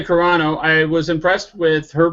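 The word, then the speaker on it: Carano: name uh Gina Caro how how's that pronounced Gina G uh Gina corano Gina corano I was impressed with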